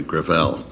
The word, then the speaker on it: Gravel: it within my family grael gra it's a French name thank you uh I